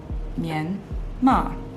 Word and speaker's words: Myanmar: Myanmar.